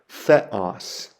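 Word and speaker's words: Θεός: letter is a the a Theta makes a th sound like we would find in the word thin and the Greek word I have there is the word for God so that would be pronounced Theos Theos the next letter is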